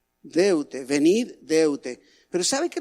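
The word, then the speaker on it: δεῦτε: en el griego original es una palabra que se pronuncia de ute deutsche venir deuda pero saben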